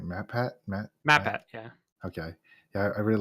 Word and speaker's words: MatPat: MatPat, yeah.